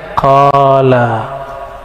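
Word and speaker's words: قال: enggak enggak ada kan tapi ahli hadis membacanya qala dibaca qala itu apa arti qala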